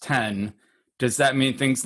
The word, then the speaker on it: X: If Mac OS is no longer Mac OS X, pronounced 10, does that mean things like Logic that have X in their name are going to upgrade too?